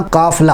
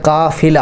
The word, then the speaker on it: قافلہ: کے ساتھ غلط ہے۔ اسی طرح قافلہ ہے۔ ہم اس کا تلفظ 'ف' پر فاتحہ کے ساتھ کرتے ہیں، لیکن اس میں فتح نہیں ہونا چاہیے، اس کے نیچے ایک کسرہ ہے: "قافلہ"۔ اسی طرح لفظ "قندیل"